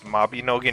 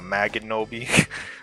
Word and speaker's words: Mabinogi: Also, it's Mabinogi, not Maganobi. Like, it's Mabinogi.